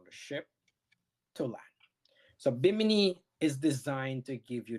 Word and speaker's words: Bimini: At Bimini, is that how you pronounce it? Bimini? Bimini.